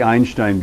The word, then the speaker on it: Einstein: it right okay um and i just say einstein because because because because because i had a german student that every time i said einstein he said einstein like and that just you